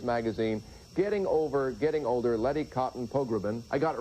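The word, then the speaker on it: Letty Cottin Pogrebin: co-founder of Miz Magazine, Getting Over Getting Older, Lety Cotton Pogbin. I got it right, didn't I? Perfect. Well, you have too many syllables, by the way.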